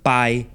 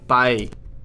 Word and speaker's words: pai: padre, meaning father becomes pai, Bye. Okay, my bye.